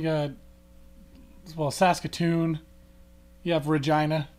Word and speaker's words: Regina: well Saskatoon you have Regina the city that rhymes with fun um what uh what